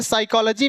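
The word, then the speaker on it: psychology: silent हो गया ऐसे साइकोलॉजी में आपका ये पी साइलेंट हो गया ऐसे यहां टेरा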